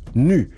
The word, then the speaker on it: nu: plusieurs considérations tout d'abord la lettre nu qui n'a pas la même prononciation en anglais phonétiquement cela aurait donné new nouveau en anglais ce qui aurait pu